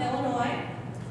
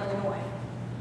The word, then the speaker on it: Illinois: I am from Illinois. I'm not from Illinois, nor am I from Illinois. There's no E at the end of Illinois.